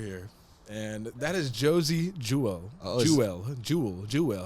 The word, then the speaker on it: Jewell: So we go with we're gonna go back to another Fleetster here, and that is Josie Jewell.